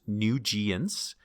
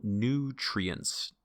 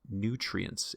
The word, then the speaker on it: nutrients: review that word and nutrients so i think in the demonstration it was pronounced new genes we want to hear the r in the middle nutrients nutrients and we're stressing newt the first syllable nutrients and another word to